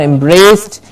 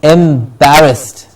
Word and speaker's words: embarrassed: the world today description embarrassed our sound to be heard very clearly embarrassed it's not embraced it is embarrassed embarrassed then we have